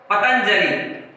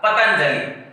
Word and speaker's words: पतंजलि: जैसे हम बोलते हैं पतंजलि, अब इस त के ऊपर अनुस्वार लगा है, इस अनुस्वार का जो उच्चारण है वो त के बाद में होगा, पतंजलि।